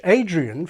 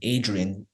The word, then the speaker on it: Adrian: When I was a kid, I always wondered why it was like my name, Adrian, it had a j sound in it. It was spelled with a D.